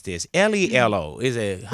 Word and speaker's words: LELO: Amber, how do I pronounce this? Lelo. Is it? Lay low.